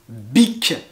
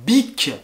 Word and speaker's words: Bic: fameuse marque les stylos bic bic b et c alors cette marque fait des stylos mais aussi des briquets pour faire du feu ou des rasoirs pour se raser donc big et pour terminer vous